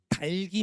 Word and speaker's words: 닭이: 달기 맛있다요. 닭이 맛있다요. 다시요. 생각해 보세요. 달기 맛있다예요. 닭이 맛있다예요. 달기 맛있다죠.이는 형식 형태소라고요. 그죠?